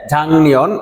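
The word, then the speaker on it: 작년: জনন অর্থ আমি জাংনিয়ন এটির উচ্চারণ হবে ঝাং নিয়ন এর জন্য আপনারা এইভাবে গিয়কের নিচে ইয়ং টা লিখে রাখতে পারেন মনে রাখার জন্য ঝাং নিয়ন অর্থাৎ গিয়কের পরে নিয়ন আসলে এই গিয়কটা ইয়ং হয়ে যাবে এজন্য উচ্চারণ হবে কি ঝাং নিয়ন শুনুন ঝাংনিয়নে ঝাংনিয়ন শিররে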